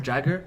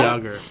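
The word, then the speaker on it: Jágr: So I used to pronounce his name. I'm pretty sure everyone did. Jarmer Jagger. No. Everyone Yeah, did yeah. that. No? No. You never did that? I always said no? Yager.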